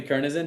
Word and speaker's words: Kernisen: uh Kernisen. I've never said your last name out loud, bro. First time. Kernisen. Did I get it right? Yeah, Kernis. You said it right.